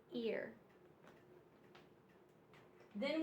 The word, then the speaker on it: earth: er er er er it's e-a-r but it just makes the r sound ER in Earth so